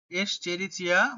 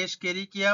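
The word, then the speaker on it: Escherichia: আবার প্রাণীদেহে এস্চেরিচিয়া কোলাই, দেখো স্পেলিংটা খুব ভালো করে দেখবে, এস্চেরিচিয়া বা অনেকে এসকেরিকিয়া বলে, যে যেমন ভাবে উচ্চারণ করতে পারো কোনো অসুবিধা নেই, কিন্তু স্পেলিংটা যেন ঠিক থাকে।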